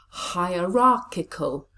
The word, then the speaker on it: hierarchical: sounds of those syllables first syllable i long vowel second syllable er short unstressed vowel third syllable long vowel fourth syllable short vowel final syllable er unstressed short vowel oh cool now let's put all those sounds together hierarchical where is the stress hierarchical yes is on the third syllable now let's put this